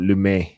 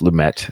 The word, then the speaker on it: Lumet: You guys all say you Americans say lame met but I believe it's lum but actually no it is lummet according to Wikipedia.